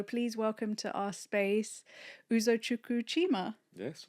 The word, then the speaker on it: Uzochukwu Chima: So, please welcome to our space Uzo Chuku Chima. Yes. Right. Did I pronounce it correctly?